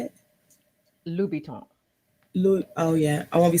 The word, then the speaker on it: Louboutin: I love keeping up with And pronounce fashion it again. and the stars. So I know how to say it. Louboutin.